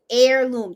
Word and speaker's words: heirloom: appreciate that heirloom yes heirloom this the h is silent yes leslie i made